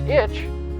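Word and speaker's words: ić: end in itch originally the ending ic was added to the name of the oldest sun meaning the one who inherits pronounced ich in a croatian name it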